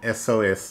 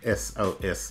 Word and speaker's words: SOS: as we received an SOS message on the radio. A save our ship message, an SOS message. This is because the consonant letter S is pronounced beginning with a vowel sound E.